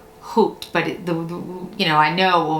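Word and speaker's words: haute: never pronounce it right h-a-u-t it's like hoot but you know i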